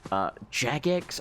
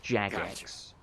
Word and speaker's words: Jagex: it money like through Jagex I always quote it jagex but apparently they pronounced Jax as it stands for